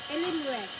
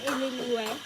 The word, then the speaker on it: Illinois: Pwede ba padala ng Rockford, Illinois. Illinois? Hindi. Di ba po ang basa dyan, Illinois? Huh? I-search nyo mo sa Google. Illinois tayo ng Illinois. Iba yung pronunciation niyan.